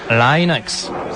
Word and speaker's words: Linux: comment prononcer linux eh bien je prononce linux comme linux cependant si vous êtes linus torvalds ou le pronom serez sans doute linux d'un autre côté si vous venez de la côte ouest des états unis vous pouvez le prononcer line axe mais linus torvald se